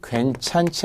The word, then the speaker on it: 괜찮지: 그런데 히읗이 들어가면서 발음이 축약이 되어서 발음은 치처럼 발음하는 게 맞죠. 괜찮지 않아요. 괜찮지. 그러나 표기는 지라는 거.